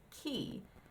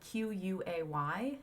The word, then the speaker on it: quay: become a Quay pronounced key which is of course ridiculous because the word is spelled q-u-a-y it's pronounced key in a lot of places I have heard um dictionary pronunciations pronounce it Quay I've always read it